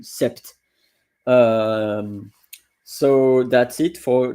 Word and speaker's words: sept: So I was saying that you don't pronounce really the P. Um it's really rare that I hear someone saying sept.